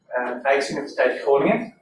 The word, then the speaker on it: Rijksuniversiteit Groningen: Hi everyone, it's my pleasure to introduce Pratika Dayal from Rijksuniversiteit Groningen. She's going to talk today. You pronounced that Right.